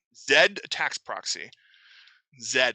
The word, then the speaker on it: Zed: right zed tax proxy zed because we're we're pronouncing it the european way uh here's what attack